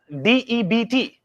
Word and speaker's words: debt: when you say depth de bTW you know you never pronounce it as debit ya always say debt de bTW debt dbt that be silent but debt is Garza